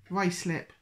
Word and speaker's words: Ruislip: Ruislip. That's not what you pronounce that like an American would.